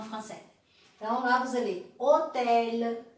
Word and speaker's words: hôtel: mas para nossa alegria, no começo existe só uma, que é o H, ou H em francês. Então lá você lê hôtel, homme, habiter, hommage.